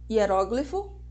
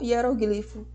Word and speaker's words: hieróglifo: pode chamada ortoépia ou ortoepia acróbata ou agromata hieróglifo ou hieroglifo Boêmio ou Boemia xerox ou xerox dentro do do conceito de sílaba a gente também trabalha os conceitos de